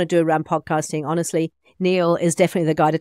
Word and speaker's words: Niall: So it is spelt N-I-A-L-L, Mackay. So Niall Mackay, thank you so much.